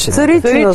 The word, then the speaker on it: Царичина: Кое е това ударение? Царичина. Царичина. От царичина се вика. При вас царичина отде. Аз съм от района само. Значи това ли е право? Царичина се казва.